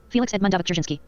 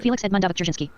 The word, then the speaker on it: Felix Edmundovich Dzerzhinsky: I'm going to see if I can pronounce it here. Can you guys hear this audio? Felix Edmundovich Dzerzhinsky. Okay, see. I'll say it again. Felix Edmundovich Dzerzhinsky. Felix Edmundovich Dzerzhinsky.